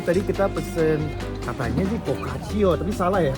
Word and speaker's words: focaccia: Am I pronouncing it right, by the way? Focaccia?